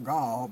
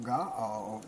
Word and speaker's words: Gaal: Gaal, pronounced not Gaal, but Gaal is how it was pronounced.